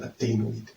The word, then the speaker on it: adenoid: It's an adenoid. Not an adonis, so an adenoid.